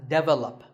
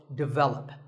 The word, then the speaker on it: develop: This is pronounced wrongly by many learners of English as develop. But the first syllable is actually de, and the stress is on the second syllable, so develop.